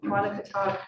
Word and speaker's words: Quonochontaug: Okay, the next item we have is Quonochontaug Pond oyster harvest moratorium.